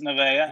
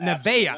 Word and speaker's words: Nevaeh: So it's Heaven Backwards, right? It is. It's Nevaeh. Nevaeh.